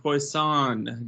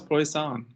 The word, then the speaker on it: Poisson: next one is called poisson distribution all right what's wrong with that that's how you say it well it's one of the things that i remember from stats it is poisson i don't know why